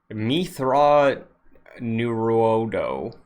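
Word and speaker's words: Mitth'raw'nuruodo: Forgive me if the pronunciation is off, but I brought Mithra Nuruodo.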